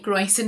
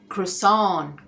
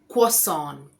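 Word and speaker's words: croissant: इसका सही उच्चारण है क्रसोन। क्रो और सॉन क्रसोन या क्वसन क्वसन क्वसन अमेरिकन और ब्रिटिश के हिसाब से मैं बोलूं।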